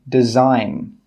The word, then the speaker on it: design: G is normally silent when it comes before an N. For example, design.